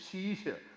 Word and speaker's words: Ashish: For Punjabis, my name is Shisha. A is silent. Just like it's not knowledge, it is knowledge. Same way, it is not Ashish, it is Shisha.